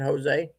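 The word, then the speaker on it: José: Is that how you say that? With a H instead of the J? What's that? I missed it. What was it? Jose? Is that Jose? Jose? Yeah. Jose. Yeah, that's how you say it, Jose.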